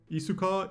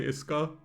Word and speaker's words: Isuka: The U in Japanese is always a bit weird because you tend to swallow it. So, I'm just going to say Iska where she costs one more and she bottom decks cards.